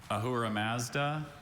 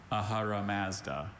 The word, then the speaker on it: Ahura Mazda: I have Ahura Mazda, Ahura Mazda, and Ahara Mazda.